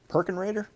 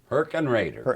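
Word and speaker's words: Hergenrather: Perkenrader? Herkenrader. That's a good German name.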